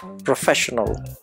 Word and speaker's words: professional: To speak this word with the correct stress, we say professional. The stress is on the second syllable, second vowel sound, pro-fes-sion-al. Pro-fes-sion-al.